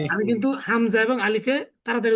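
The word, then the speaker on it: ألف: আমাদের আলিফ এবং হামজা এই দুইটা করতে হবে তাড়াতাড়ি উচ্চারণ, মনে রাখতে হবে কিন্তু। এই আলিফ আর এই হামজা, এই দুইটা তাড়াতাড়ি উচ্চারণ, আর বাকি সব ধীরে ধীরে টেনে টেনে উচ্চারণ করতে হবে।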